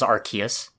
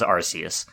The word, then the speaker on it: Arceus: Is that really how it's pronounced? That's how they pronounce it, which confuses me. Because for years I thought it was Arceus. Maybe because they don't like the word arse.